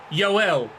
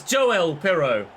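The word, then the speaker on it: Joël: it's gone in and I was pronouncing it yoel it's not Swedish he's Dutch it's Joel pero I apologize for mispronouncing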